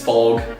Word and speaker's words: Fog: exclusive it's pretty much my last name is fog and it rhymes with dog I've kind of been